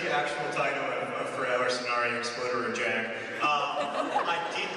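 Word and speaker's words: Förr eller senare exploderar jag: That is the title of the Swedish version of The Fault in Our Stars, and it is pronounced for Eller Sonare Explosion!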